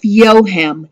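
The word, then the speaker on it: Joachim: his name is Josef yo him and I know it does not sound like it's written J Oh a CH I am but it is pronounced yo him he met Yosef yo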